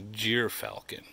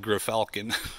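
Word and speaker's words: gyrfalcon: a third his size okay this is a jir falcon looks like GFF Falcon but it's pronounced jir Falcon an Arctic species that goes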